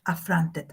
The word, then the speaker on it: affront: There is a schwa here because the first syllable is not accented. And the accent is in the second syllable, front, affront.